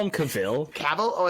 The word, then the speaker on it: Cavill: just call him cavil caval oh it's isn't it it's it's Cav every I have never it's not it's it's it's caval it's not Caville okay what I was goingon